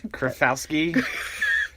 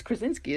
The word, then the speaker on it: Krasinski: John Krafowski. It's Krasinski, isn't it?